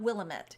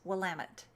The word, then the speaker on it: Willamette: Willamette. I learned how to pronounce it. It's like, damn it, it's from the Willamette. I think. It's not Willamette, it's Willamette.